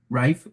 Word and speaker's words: Reif: all doing hey there wait is that word pronounced in the same way as your last name say your last name again which one rife z yeah very similar just followed from that.